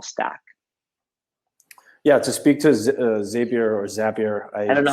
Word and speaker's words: Zapier: Our sales engineer says it is Zapier, so I'm gonna stick with him because it rhymes with happier.